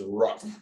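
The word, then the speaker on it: WRUFF: for um and so when you abbreviate what are you famous for that's w-r-u-f-f would you spell it out is rough so i would ask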